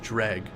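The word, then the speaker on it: Draugr: what by one point in Oblivion it's pronounced drag silent letters for the win interesting okay drag I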